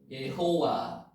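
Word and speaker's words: יהוה: 예자 발음 나옵니까? 예호와라고도 기록을 하고 예호와. 여기 위에 점이 하나 있으면 호 발음이죠. 예호와.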